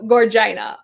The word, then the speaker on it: Gorgina: Vagina rhymes with Gorgina. Gorgeous. So Gorgina.